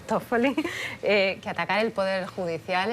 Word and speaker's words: Toffoli: Que tú me dirás cómo se pronuncia, Toffoli. Toffoli, que atacar el poder judicial es atacar la democracia.